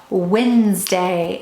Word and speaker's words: Wednesday: spell word is wednesday wednesday is how you say the word but we're gonna think to spell wed ness day three syllables think to spell wed ness day but we say once we write the word it's wednesday okay so i wanted to